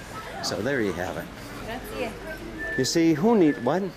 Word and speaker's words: grazie: Grazie. You see, who need what? Grazie. What? You must pronounce the E.